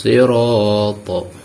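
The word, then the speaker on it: الصراط: Ihdinas siratal. Siratal. Jangan huruf Shad berbaris kasrah ini berubah menjadi huruf seperti bunyi huruf Sin kalau terlalu tipis membacanya. Ihdinas, jadi huruf Sin bunyinya, tetap harus bunyi huruf Shad, yaitu ihdinas siratal mustaqim.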